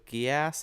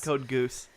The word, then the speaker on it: Code Geass: entry code yet Code Geass I think it's pronounced yeah Geass yeah not code goose hit almost every single